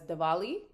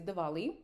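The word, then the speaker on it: Diwali: It's written Dwali, but I heard them pronounce it as Dvali. So I'm going to say Dvali.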